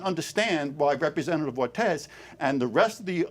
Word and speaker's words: Ortiz: It's pronounced Representative Ortiz, Senator Kavanagh.